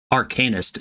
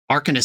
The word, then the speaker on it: Arcanist: to hear about it Arcanist is how you pronounce that word Arcanist sounds cooler but that's just not the word sorry folks mad